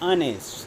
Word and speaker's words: honest: an here, and honest, h is silent here and here is the sound honest, that's why an is used with this word.